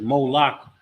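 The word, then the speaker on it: Moloch: it with a m-o-l-e-c-h you gotta spell it a particular way it says Mo lock but it's the same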